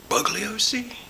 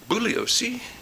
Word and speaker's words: Bugliosi: I probably have called him in the past Bugliosi. He's a kind of a bug to me, but it's actually pronounced Bugliosi, and I've butchered a few things.